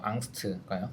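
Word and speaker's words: Angst: 독일어 발음이 독일어 오래 해갖고 앙스트가요.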